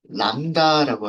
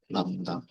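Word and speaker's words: lambda: 요렇게 람다, 람다가 뭔지는 이따가 나중에 말씀드릴게요. 파일 만들어 주신 분들은 연결을 먼저 하도록 하겠습니다. 연결하고요. 어, 이거 오타 아니고요. 오타 아니고 B는 발음이 안 돼요.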